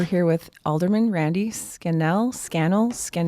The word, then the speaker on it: Scannell: Scannell? Scannell rhymes with channel.